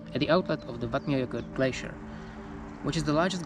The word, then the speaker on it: Eyjafjallajökull: By the way, if you pronounce the English phrase "I forgot my yogurt," you get pretty close to muddled pronunciation of this volcano's name. I forgot my yogurt, Eyjafjallajökull.